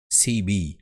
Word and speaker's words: CB: à tous en français le sigle CB se prononce cibi à l'anglaise de feu la cibi